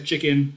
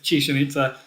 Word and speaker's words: Chichen Itza: Chichen Itza. I always read it as chicken. It's not chicken. It's Chichen Itza.